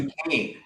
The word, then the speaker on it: Duquesne: Thoughts on the Duquesne Heights area? What class would this be? Am I saying it right? What area? uh Duquesne. Oh, D Duquesne.